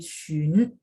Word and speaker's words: 询: Ubah kedua ke XIN dulu. XIN bacanya sin, benar nggak? Sin. Nah, kalau ini mulutnya dibulatin dari sin dibulatin jadi shun.